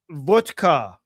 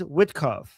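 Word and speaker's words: Witkoff: So he's saying, Ghalibaf, you slapped Vodkov. Like you hit Vodkov hard in the face. You know what he means by Vodkov? He means Witkov. He's mispronouncing it. He's saying he's making Witkov sound like vodka.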